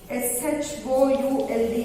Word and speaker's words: should: S-H-O-U-L-D is should. In all the three letters, L is silent.